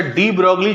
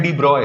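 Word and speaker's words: de Broglie: करके पढ़ लिए ना इनका एक्चुअल प्रोनंसिएशन नाम का है डीब्रॉय डीबॉय डीब्रॉय हाइपोथेसिस और हम लोग इंडिया में इनको क्या बोल देते हैं डीब्रोगली बट इनका नाम का एक्चुअल प्रोनंसिएशन है डीब्रॉय तो हम लोग पढ़ना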